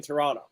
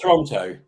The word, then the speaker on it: Toronto: let you guys know do not pronounce the second t in toronto that's the wrong thing for us here this is not toronto it's not toronto that's